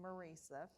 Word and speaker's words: Marisa: Well, my name is tricky, and you did pronounce it correctly, Marisa.